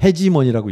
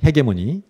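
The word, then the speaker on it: hegemony: 참고로 헤게모니라는 거는 영국은 헤게모니라고 읽고 미국에서는 헤지모니라고 읽더라고요. 저는 영국식으로 하겠습니다. 제 영국 제 별명이 브리티시 젠틀맨이었거든요 옛날에. 왜냐하면 런던에 제가 4년 살았습니다. 그래서 바이폴라 헤지모니, 헤게모니.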